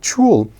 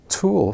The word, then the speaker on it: tulle: know we have tool I was calling it true which I thought sounded more sophisticated but it is in fact pronounced tour so thank you to